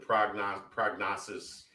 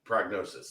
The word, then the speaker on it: prognosis: The prognosis is that, prognosis, whatever, is prognosis. That he should, prognosis, that's what I meant. Yeah. Put the emphasis on the wrong syllable.